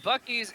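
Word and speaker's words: Buc-ee's: thinking the same thing bucky bucky's is is a cross between like general store and like gas station but it's also it's spelled b u's b u c e e apostrophe s all of you go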